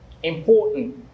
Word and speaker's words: important: not stressed on the the stress is not on the first syllable so you can't say important it's important if you've been saying important once you know the correct stress uh the correct uh yeah syllable stress so you should start saying important not important now when you go